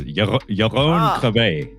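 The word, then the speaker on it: Jeroen Krabbé: I'm going to try to pronounce this correctly because I actually have heard this man's name spoken aloud at the dinner table. It's Jeroen Krabbe. That's how it's said.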